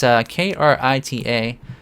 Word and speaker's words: Krita: So now the other week I mentioned something, a program that is open source called Krita or Krita. I'm not really sure how you pronounce it. It's Krita, and so I've been doing some experiments with it.